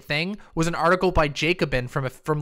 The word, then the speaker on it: Jacobin: fedex ups u-haul jacobin is it jacobin oh no all right jacobin i didn't realize that that's a mispronunciation on my part thank you um so